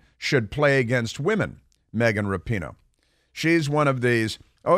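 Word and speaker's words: Rapinoe: show Welcome with Megan rappinhoe is that how do you say reference yeah just oh no it's rapino rapino yeah so anyway she's an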